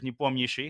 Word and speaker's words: Nepomniachtchi: wordplay in that because his last name is a mouthful to pronounce for non-Russian speakers, Nepomniachtchi. Of course, I say it in a more Americanized way so that people are more familiar, but it roughly means